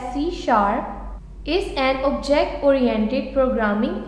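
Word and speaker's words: C#: Long question start होगा, सी hash pronounced as सी sharp is an object oriented programming language based on सी plus plus.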